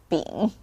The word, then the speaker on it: 屏: Last but not least, actually for the 平 we have another pronunciation. So it's the exactly same hanzi, this one, but sometimes it pronounced as 饼, which means to hold it.